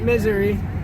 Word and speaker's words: Missouri: out all right welcome to Missouri kids I pronounce it misery yeah for me well first we got the